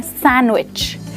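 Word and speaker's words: sandwich: Well यहाँ पर भी दोस्तों डी लेटर साइलेंट है, जस्ट लाइक वेडनेसडे, और हम इसे कहते हैं सैंडविच।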